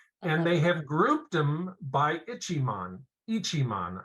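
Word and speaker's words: Ichimon: Ichiman, I believe is the way to pronounce it.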